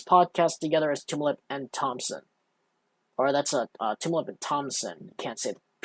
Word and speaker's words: Thomsen: You can't say the P because he doesn't have a P in his name. It's spelled Thomsen. In case anyone's wondering. Yes, so it's Thompson. Thompson. It's not Thompson. Or rather, I'll enunciate it. It's Thompson, not Thompson. You got to take the P out because there's no P in his name.